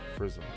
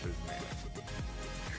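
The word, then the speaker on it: Frizzmmm: It's Prism. F-R-I-Z-Z-M-M-M. 2 Z's, 3 M's, no A, no N. Prism, not Prismatic.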